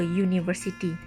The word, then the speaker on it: university: A university. The U at the beginning of university sounds like U.